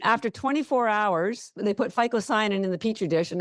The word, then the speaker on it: phycocyanin: It's called phycocyanin. I'm going to spell it for you because I encourage you to Google it. Okay. It's phycocyanin.